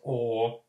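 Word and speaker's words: eau: So the French word for water, for instance, it's spelled E-A-U, but just pronounced O.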